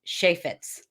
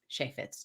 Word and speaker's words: Cheifetz: I know I usually tell people the phonetic way to write it down so that they can pronounce it correctly. It is Cheifetz. Cheifetz, Cheifetz.